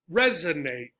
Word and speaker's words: resonate: Resonate, resonate. 3-syllable words ending in this suffix, ate, are usually stressed on the first syllables.